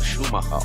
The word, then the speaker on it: Schumacher: There is Dunlop, and then of course the banner which has the legendary name Michael Schumacher on there. That is the correct pronunciation.